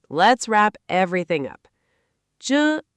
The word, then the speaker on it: 着: Men kai zhe.